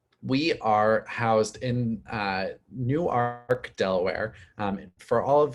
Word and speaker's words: Newark: our students um we are housed in uh newark delaware um for all of you in this great state of pennsylvania it is newark and not new work um that is a big stickler point and